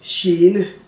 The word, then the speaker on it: gene: For example, the word en gene, which means a hazard or something that bothers you. Then the G is an SJ sound, sh sound.